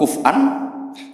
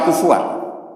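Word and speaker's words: كُفُوًا: Harusnya qiraah masyhurah itu walam yakullahu kuf'an ahad bil hamzah. Dan rata-rata qiraah sab'ah bacanya qurra sab'ah bacanya walam yakullahu kuf'an, bukan kufuan. Tapi orang Quraisy itu yubaddilunal hamzata wawan ba'da dhammi, sehingga kufuan menjadi kufuan.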